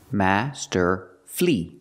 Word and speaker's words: masterfully: masterfully is not correct it's not for syllables we pronounce it with three syllables Master flee flee the last syll able is flee not fully but flee Master flee Master flee put